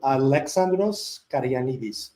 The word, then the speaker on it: Alexandros Karanis: Alexandros Karanis is is the proper way to say it in Greek.